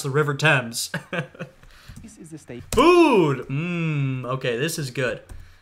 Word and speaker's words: Thames: criticize this narrator right is he didn't say Thames correctly come on man I know you're in Ireland but you know Britain ain't that far you should know how to pronounce the River Thames food okay this is good there's gonna be